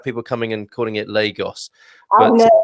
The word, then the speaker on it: Lagos: So a long R sound, like a long O at the end. Lagos. Lagos. O at the end isn't stressed. When it's stressed, you have an open O sound and a closed O sound at the end of a word, and then you do the sh sound, of course.